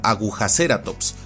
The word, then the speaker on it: Agujaceratops: Otra excepción son las etimologías derivadas del español, donde por ejemplo este género se pronuncia y castellaniza como agujaceratops, pues deriva de la palabra española aguja.